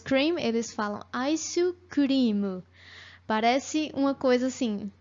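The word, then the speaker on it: アイス: para falar sobre sorvete, que é o aisu. Aisu, na pronúncia em japonês. O que que acontece? Os japoneses adotaram a palavra ice cream, né, do inglês, mas com o jeitinho deles mesmo de falar. Em vez de falar ice cream, eles falam aisu cream.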